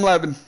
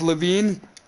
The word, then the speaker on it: Levine: Long live the sexy Adam Levin. And if I said your name wrong, it's Levine.